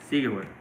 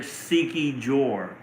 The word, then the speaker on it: Siquijor: Sigihor. I used to pronounce it Sikijor. And then I was told that that's not how you pronounce it. For me, it looks like Sikijor, but they said it's Sigihor.